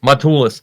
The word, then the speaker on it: Matulis: It's more of a Matulis. Matulis.